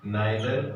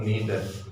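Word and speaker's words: neither: नाइदर और नीदर, इसे भी दोनों तरीके से प्रोनाउंस किया जा सकता है।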